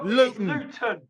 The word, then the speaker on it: Luton: I pronouncing it correctly, Luton? That's my pronunciation. Okay. So we pronounce it Luton. We drop the T. Yes, Luton.